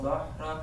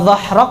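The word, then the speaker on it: ظهرك: Alladzi anqadha dhahrak. Dhah, nah itu huruf ha. Pengucapan ha, ya, harus dengan apa? Usaha. Karena ha ini jauh makhrajnya, sama seperti hamzah. Satu makhraj dengan hamzah.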